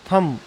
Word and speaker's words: thumb: इसको कैसा पढ़ेंगे? थम, TH, हाँ, थम।